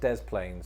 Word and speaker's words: Des Plaines: in the illinois city of the plains it's pronounced des plaines so that it wouldn't that wouldn't work also